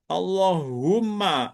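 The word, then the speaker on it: اللهم: Yanya dibuang humanya itu menjadi ditasdidkan Allahu umma. Umma. Allahumma menjadi begitu. Allahumma.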